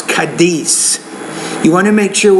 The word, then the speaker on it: Cádiz: The S in English is not a TH sound. I know if you're in Spain, you might say, well, I'm from Cádiz, España, whatever. But no, it's Cádiz.